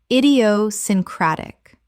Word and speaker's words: idiosyncratic: Idiosyncratic. Six syllables with the stress on the fifth.